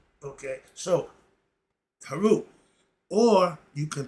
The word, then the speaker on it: Heru: So, Heru. Or you can pronounce it Raul, Nu, Pert, M, Heru, spelled P-E-R-E-M.